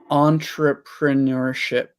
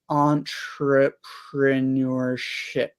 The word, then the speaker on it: entrepreneurship: We say it pretty much the same, but Your pronounce PR is just a bit different, isn't it? oh, there's 3 R's in there, aren't there? Entrepreneurship. Yeah, so you're newer, whereas I'm ner.